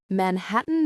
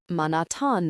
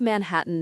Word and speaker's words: Manhattan: Manhattan Noir, which given his French accent, he pronounced Manatan Noir.